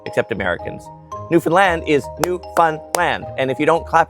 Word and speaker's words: Newfoundland: The big city in Ontario is pronounced Toronto. Nobody says the second T except Americans. Newfoundland is New Fun Land, and if you don't clap it out, they'll